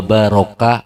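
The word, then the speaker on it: بارك: Jadi bukan wa barik wa salam. Bacanya kalau wa barik wa salam itu fi'il amar, perintah untuk memberi berkah.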